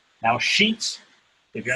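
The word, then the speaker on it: Sheetz: Now, Sheets, if you're not familiar, is spelled S-H-E-E-T-Z. I always say it's like bed sheets, but with a Z.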